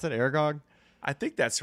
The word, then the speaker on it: Aragog: Aragog.